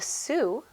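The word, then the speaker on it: Sioux: The Sue, notice how I pronounce that, they did not live in one place and they followed the bison or buffalo.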